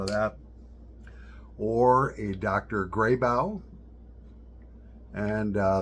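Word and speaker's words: Grabow: that or a Dr grybow and uh that's spelled g r a b o w Dr grey BAU g r a b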